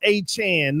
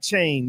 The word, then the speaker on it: Achane: Somebody said it's pronounced achan not chain.